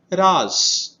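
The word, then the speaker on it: राज़: तो बिंदी होने के कारण इसका उच्चारण भी बदल जाता है। तो पहले वाले शब्द को हम पढ़ेंगे राज और दूसरे वाले शब्द को हम पढ़ेंगे राज।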